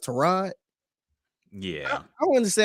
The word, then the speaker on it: Tyrod: or something and he he says pronounced Torah it's like why the did you ain't say you ain't say that five years ago yes like I think they may call you Tyron since she was in college and now you're gonna he says Ashley pronounced to rod yeah I want to